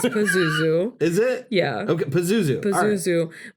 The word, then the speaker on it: Pazuzu: It's Pazuzu.